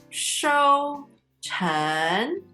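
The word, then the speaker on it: 收成: 收成, first tone, second tone. 收成.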